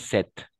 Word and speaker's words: sept: On prononce sept.